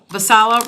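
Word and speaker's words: Vaisala: um we've got um how do you pronounce that Dan? Vicea sensors. Visala road sensors.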